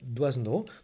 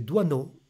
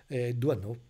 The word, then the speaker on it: Doisneau: Questo signore si chiama Robert Doisenau, ma ho scoperto poi che la pronuncia corretta, correttami dai francesi, è Doisenau, si mangia la S, Io non lo